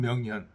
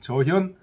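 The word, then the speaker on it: 著現: 일들이 다 더 적연 명현 적연 환하게 드러나는 거예 저현이라고 읽어야 되겠 저현 명현 이보다 더 환하게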